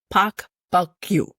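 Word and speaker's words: 박복규: played for laughs because the way that you pronounce it is Pak Buk-yu. And people are, every time he introduces himself, they think that he's swearing at them.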